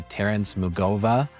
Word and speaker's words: Terrence Mugova: And today I am joined by Terrence Mugova.